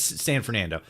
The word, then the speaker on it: San Fernando: Whatever the name of however you correctly pronounce the name of the Knights of San Fernandino, San Fernando's. Is it Fernando or Fernandino? No, it's San Fernando.